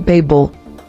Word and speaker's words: Babel: Lord 22 Babel origin Hebrew Babel meaning confusion pronunciation Babel Bible verse Genesis 11:9 ESV therefore its name